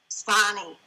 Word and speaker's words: Sonne: Your last name, will you pronounce that for me, please? Sonne.